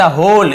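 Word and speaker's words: whole: फॉर द होल villagers, for यानी के लिए, द होल, इसे होल पढ़ेंगे, डब्ल्यू यहाँ पे साइलेंट होता है, केवल होल पढ़ेंगे, होल विलेजर्स, होल यानी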